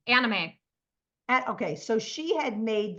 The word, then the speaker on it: anime: a an i M how do you pronounce that a n i m anime okay so she had